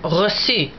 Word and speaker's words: reçu: When the French want to make that hard C soft, they use a cedilla, which looks like the 5 without a hat, as in the word reçu, receipt.